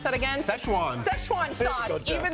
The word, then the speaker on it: Szechuan: And coming up, can you believe this line at McDonald's was over, how do you pronounce that again? Szechuan.